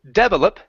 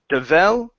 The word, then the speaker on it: develop: The stress is in the middle there. Instead of develop, okay, it's develop, like so.